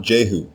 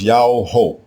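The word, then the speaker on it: Jehu: uttered by our forefathers the Royal name everyone Mis pronounces today as juu is spelled with a single letter yah as the prefix dominative form the king's name is not juu it is ya ho yaah ho it combines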